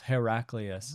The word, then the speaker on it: Heraclius: What wait, was it Heraclius? Cleo? Cleos? No. Cleo maybe Cleos. Well, it's funny because the first two syllables sound like hero itself, Heraclius.